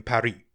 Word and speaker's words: Paris: out a tweet saying stop pronouncing our show's name wrong right right Emily and Paris rhyme ah of course Emily in Parry that's how you're supposed to say it and they put a